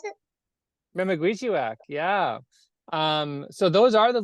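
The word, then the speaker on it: memekwesiwak: Is that how you pronounce it? Memaguichiwak, yeah.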